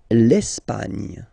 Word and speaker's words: l'Espagne: L'Espagne. L'Espagne. Okay, don't insist on the final E because basically it's not pronounced.